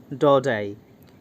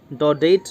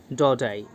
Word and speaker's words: Daudet: इनका नाम है अल्फोंस डौडेट। अल्फोंस डौडेट, इसको हम डौडेट नहीं प्रोनाउंस करेंगे क्योंकि इनका ये एक फ्रेंच राइटर है और फ्रेंच वर्ड को हम इसी प्रकार प्रोनाउंस करते हैं, अल्फोंस डौडेट।